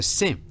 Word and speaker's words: Sim: So Sim, the M is not pronounced, but it's spelled S-I-M, and they love the fact that Sim is actually yes in Portuguese.